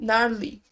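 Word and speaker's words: Gnarly: Ils ont sorti, ils ont interprété G Narly, Narly, le G ne se prononce pas, ils ont interprété Narly et Gabriela, qui sont ses derniers singles.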